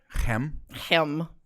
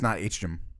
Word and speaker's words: Hem: I was going to ask how you pronounce that. Oh, yeah. Hem? It's not H-Jim.